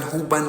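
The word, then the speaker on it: حُبًّا: Jadi yang asalnya bacaannya huban. Ya, saya tutup dulu tuh. Ya, asalnya huban. Karena bertemu dengan salah satu huruf ikhfa, huruf jim, jadi bacanya disamarkan bunyi tanwinnya. Ya, bukan huban lagi, tapi huban, tahan 2 ketukan.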